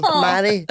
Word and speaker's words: Mhairi: I always tell people you pronounce my name as though you're proposing to me. Like, will you marry me? Mhairi.